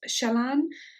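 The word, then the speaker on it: Källans: help you pronounce it it's pronounced shalan according to a friend of mine who speaks swedish and google translate and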